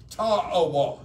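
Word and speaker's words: Tawah: a couple of things tawa and I don't pronounce it correctly t-a-w-a-h Tau y it's an Indian name okay it is one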